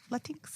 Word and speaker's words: Latinx: Latinx. Which reminds me kind of like Tinkerbell, but that's fine. Yeah. No, that's how I'll remember to pronounce it that way. With a little like Tinkerbell. Latinx.